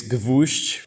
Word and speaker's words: Gwozdz: name yeah so so the correct way is Gush but I don't really expect anyone who doesn't speak Polish to know how to pronounce it you know accurately it